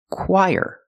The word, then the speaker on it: choir: how it looks so the CH makes the C sound like the letter K KK then we use the W sound quq together with a long I quq and then we have the sound like Burger when we link the Quai and the there's a sound in the middle that is y the sound y like yellow YY let's link The Sounds Qui Qui together choir put the stress on the first syllable choir this word is